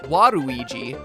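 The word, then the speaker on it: ワルイージ: Waluigi's name works even better in Japan, where his name is pronounced Waruigi.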